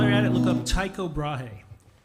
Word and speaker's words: Tycho Brahe: i get while you're at home look up tycho brahe tycho brai yeah all right how do you spell that cyco first name b-r-a-h-e he was given